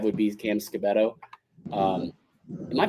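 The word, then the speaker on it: Skattebo: I think 5 would be Cam Scabato. Am I pronouncing that correctly? Scabato. It's either Scatabo or Scatabo. It's Scatabo.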